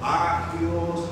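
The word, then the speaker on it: ἅγιος: el Nuevo Testamento es agios así que se dice aios agios os y la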